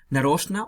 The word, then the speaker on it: нарочно: Нарочно, on purpose. So, please underline нарочно. And just notice that you pronounce нарочно and not нарочно.